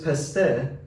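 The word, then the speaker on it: پسته: In Persian, the word is peste, but originally it was called pestag in Middle Persian. So in What's the ge at the end? ge, we lost that hard G in modern Persian.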